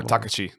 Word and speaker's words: Takashi: yamazaki yes Takashi yamazaki maybe should I stress the k no Takashi so when you're when you're pronouncing a uh Japanese kanakana okay or any kind of yeah Japanese uh words right every every uh I guess like syllable has to have the exact same uh time wasted on it so